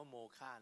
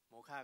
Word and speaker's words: MOCA: ให้ เกียรติ มา เยี่ยม โม ค่า ของ เรา นะ ครับ อ่าน ว่า โมฆะ นะ ครับ โมฆะ ก็ มา จาก มิวเซียมออฟ